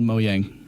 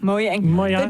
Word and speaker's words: Mojang: We've been saying Mojang wrong the entire time. Really? It's literally called Moyang. Moyang. Jay is silent.